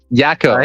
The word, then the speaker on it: Yako: on on Jacob's Jacob, how do you pronounce that? I'm sorry. Yeah, Yako. His nickname is Yako.